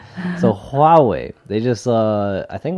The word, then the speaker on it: Huawei: huawei huawei haha huawei that's it right so ha way they just uh I think was yesterday huh